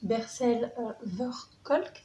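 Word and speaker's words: Bessel van der Kolk: Avant ça, si vous avez regardé la dernière vidéo, vous savez à quel point les auteurs comme Bercel Verkolk, c'est comme ça qu'on prononce son nom, sont importants et à quel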